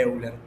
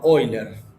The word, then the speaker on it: Euler: los que llaman polos de Euler no sino oiler que además tampoco se debe pronunciar así No es cierto porque